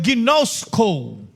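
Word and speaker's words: γινώσκω: So makikita natin ang prayer niya is that they may know makilala nila from the Greek word ginosco. Uy pastor Sam tama ba yung pronunciation ko?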